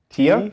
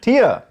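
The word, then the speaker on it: Tya: not so it's spelled t-y-a but then it's pronounced t hyphen-a-h how would you say that tia tia yeah what's up what up to you yeah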